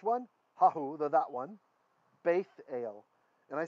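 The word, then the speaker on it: בית אל: And this is a Tav. Tav, without a dagish, there's no dot, was a TH sound. So even though we won't usually read it that way, we'll usually use more like the Israeli pronunciation, which is Sephardic. The Ashkenazi, we have a tradition of pronouncing this differently. So when there's no dot there, we'd say s, it'd be beisel, right?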